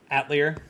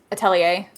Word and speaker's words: Atelier: Actually sounds like a French word, Atelier.